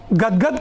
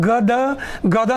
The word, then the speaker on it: गदगद: हलंत लगा हुआ है, हलंत का अर्थ होता है आधा, तो उच्चारण हम लोग गद गदा नहीं करेंगे। ठीक है बच्चों? गदगद। ठीक है? द का उच्चारण पूरा नहीं करेंगे, गदगद, दोनों में हलंत लगा है, जिसका अर्थ होता है